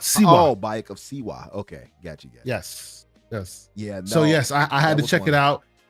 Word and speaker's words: Bayek of Siwa: How do you say his name again? When Bayek Kasia? Bayek of Siwa. Oh, Bayek of Siwa.